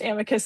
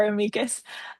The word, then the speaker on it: amicus: Um, because Latin is a dead language, no one actually knows whether it's pronounced amicus or amikas. Um, I call it amikas.